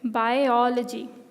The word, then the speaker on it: biology: or biology or geology you're actually supposed to lay down more stress on the beginning and then you will get the last part right so you say i ology biology stop in between to say out the or and then you'll get this right biology and then this